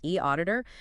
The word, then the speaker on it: eAuditor: And bringing in a digital tool like e auditor, remember pronounced e auditor, seems like it can really elevate that whole process.